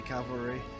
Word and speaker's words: cavalry: a lot of times he would say it like cavalry, Cavalry. like as if there was another L to it.